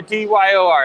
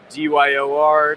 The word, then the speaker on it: DYOR: he's the CEO of do I say do your own research or D yo R how do you guys pronounce pick your preference we've gotten everything from Dy R to Dior like Christian Dior Dior and the CEO